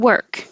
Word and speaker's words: work: either either and work this is such a good example of the difference between what english looks like and what it sounds like it looks like an o but it sounds like a k that i don't have to release and again the vowel sound is just the r noise word so wer when you